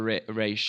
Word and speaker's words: Ra's al Ghul: it depends on which show you're watching or which writer you're talking to. But yeah, that goes from Roz or Raish.